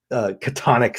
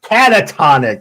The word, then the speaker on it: catatonic: to put you in a you know completely katonic state katonic is that right is that the